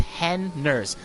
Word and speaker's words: Henners: And I do have a pronunciation guide for Henners. It's Henners.